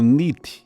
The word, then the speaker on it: NEAT: Na sigla em inglês é pronunciado como nit, é escrito neat, vem de non exercise, activity termogênesis.